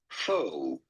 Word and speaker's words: faux: The x is silent. Yes, because it is a French word originally. In English, this is usually pronounced fo fo as in faux pa.